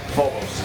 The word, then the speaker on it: Phobos: I have to make sure every day, for every band today, I have to ask them, am I pronouncing this properly? Yeah. Phobos. Yeah.